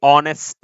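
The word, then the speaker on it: honest: तो देखो, इसको हम प्रोनाउंस करेंगे ऑनेस्ट से, और अ जो है ये है हमारा स्वर, तो स्वर की वजह से यहां पे लगेगा एन।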